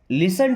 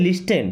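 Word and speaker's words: listen: देन लिसन टू मी। अगर आप इसे पढ़ते हो तो क्या पढ़ते हैं? लिस्टेन। क्या? लिस्टेन। बट नो। यहां पे टी साइलेंट है।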